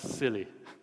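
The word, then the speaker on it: SIYLI: yourself Leadership Institute so you notice I named this organization siy Li it's pronounced as silly by the way this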